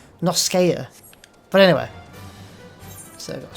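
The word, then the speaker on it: La Noscea: And I quite like the name Lanosha, but I end up saying Lerneska, which I'm definitely not saying it right, because it's Noskea.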